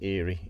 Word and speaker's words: Erie: one of those Eerie I think that's pronounced Eerie e-r-i-e 50 plus 50 and you can see that's got a date code on of uh 1974.